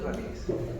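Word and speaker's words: Ramirez: Ramírez se pronuncia Ramírez. Si quedan Ramírez, ya que importa, pero yo lo pronuncio Ramírez, pero no tiene tilde.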